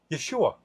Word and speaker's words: Yeshua: The Hebrew word for Jesus is almost the same that doesn't have the H on the end. Yeshua. And when you say it, they sound the same.